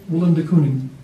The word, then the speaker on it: Willem de Kooning: Willem de Kooning. Willem de Kooning.